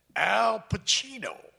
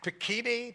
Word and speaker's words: Pacino: of all he said al pacino he pronounced my name right that never happened i went to a whole school in public school like they never pekini pakuno that kind of thing but i said